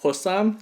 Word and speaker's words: Bossam: be and posts on is pronounced like a P so it's called possum which translates to boiled